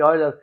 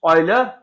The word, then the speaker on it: Euler: Euler. We pronounce Euler, write Euler. We write Euler but pronounce Euler.